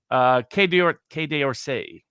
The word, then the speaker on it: Quai d'Orsay: You would be able to pronunciate it better than I. Quai d'Orsay Oh, cigar, which is very good.